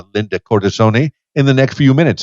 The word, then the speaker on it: Cortissone: And am I pronouncing the last name properly? Cortissone? Cortissone.